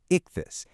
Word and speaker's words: ichthys: One of the most profound is the word ichthys, pronounced ichthys.